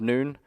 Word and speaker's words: Nun: Now Joshua is known as Joshua, the son of Nun. Nun is pronounced in the Bible N O N. So son of noon.